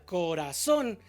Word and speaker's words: corazón: Bueno, el acento ortográfico se pronuncia y se escribe, como la palabra corazón, que se pronuncia en la sílaba tónica corazón y aparte se tilda, así se escribe el acento, con una tilde.